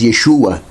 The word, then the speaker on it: Yeshua: isso que virou Jesus no hebraico pronunciamos Yeshua a gente aceita mais a pronúncia Hebraica do que aramaica porque tem essa variação